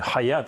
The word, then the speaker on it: Хаят: сьогоднішній керівник цьоготахрірашам Да я час виправляю неправильно вимовляю цю назву ні Хаят а ге арабською ге ращам це організація це структура